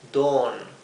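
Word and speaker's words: dawn: la haya un don se pronuncia como una larga don si don que significa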